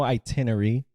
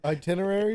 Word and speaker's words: itinerary: itinery there's no like there's no itinery yeah itinery itinery see you're making me feel like I'm a sped now are itinerary itin how do you say it itinerary itinerary yeah that's what I said you said itinerary itinerary